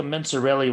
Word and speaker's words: Mencarelli: Also, you seem more like a Mencarelli with that hat on. right? With a soft C with this hat on, right? Yeah, this is a soft C hat.